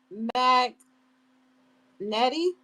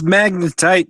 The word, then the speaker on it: magnetite: Um, Mag Nettie, did I say it right? It's magnetite, Mike.